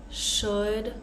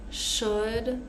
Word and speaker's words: should: here would should could so these three words the L is silent we're not going to say w w it's really hard to say with an L actually so we're going to pronounce it like uh with that uh sound would should could we